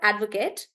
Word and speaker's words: advocate: says I'm an advocate when he's using it as a noun I would stress on the first part and say add Advocate yeah so then the